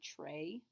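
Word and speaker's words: très: to be it's not sounds a lot like the English word Trey but with uh the Frenchy R in there Tre of course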